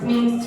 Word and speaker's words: meant: meant to be. How do you pronounce that word? Where is it? That one. Meant. So don't pronounce the A.